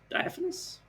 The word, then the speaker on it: diaphanous: Is slick and Diphinus? I thought I was going to say Dimorphus. Diaphanous? Yes, that's how you pronounce that.